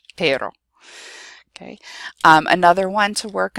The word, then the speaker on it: pero: So say petter and then say O, and say it over and over again as fast as you can until eventually, hopefully, it will go from pero, pero, pero, pero, pero, and you'll turn it into that word pero.